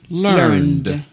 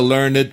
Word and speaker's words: learned: Alors, quand on prend le verbe to learn, le prétérit ou le participe passé, c'est learned. Voilà. C'est pas learned. Non. Voilà. Parce que ça se finit. Oui, ok. Sauf quand c'est un adjectif. Voilà. Ça veut dire, on dit, he's a learned person.